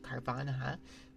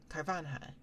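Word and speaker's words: Carvanha: Um, this one is a 2007 with the Ken Sugimorei art for Carv Carvana. Carvana, right? It's Piranha.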